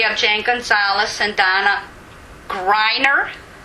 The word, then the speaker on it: Greiner: We have Jane Gonzalez and Donna Greiner. Right, a long I. Think of a long I in there. Forget the E.